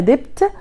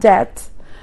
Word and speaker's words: debt: debt زي ما احنا شايفين البي بتاعتها بتبقى silent، يعني مش هقولها debt، لا ده كده غلط او نطق غير سليم، تبقى خفيفة جدا او تكاد تكون silent. فاحنا هنقول debt.